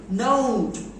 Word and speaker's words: note: Then robe, do you know robe, কাপড়, note, road, দেখো নোট বলা যায়, কোন ভুল আছে, নোট নোট বুঝতে পারছো, বাট ভুল আছে, pronunciation is note, ও ও।